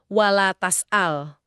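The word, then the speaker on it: ولا تسأل: Cara baca kedua, ini dari riwayat Imam Nafi dan Yakub, itu wala tas'al. Huruf taknya dibaca fathah, tas'al, jadi bentuknya larangan.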